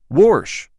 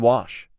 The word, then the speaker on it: wash: Warsh. Where do you see a fucking R in wash?